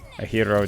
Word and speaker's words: gyro: What a hero does. It's a hero, right? Is what they call it. Like the gyro, you know what I'm saying? The GY. That's how you pronounce it, right?